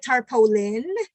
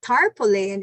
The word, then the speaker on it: tarpaulin: mo ng ato nga tarpaulin. So tarpaulin is correct. But for you who might not have an idea, you say, ano-ano na sa iyo sa tarpaulin. Tarpaulin and tarpaulin are both correct.